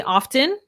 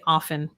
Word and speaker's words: often: question some people say often and some people say often both are correct so you can say it however is most comfortable for you often often i say